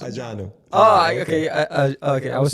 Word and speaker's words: Adjanu: But it's Adjanu. It's pronounced Adjanu. Oh, okay. Okay, I was saying Adjanu. Okay, so it's Adjanu. Adjanu. That's cool. The way you're saying it is how people say it in French.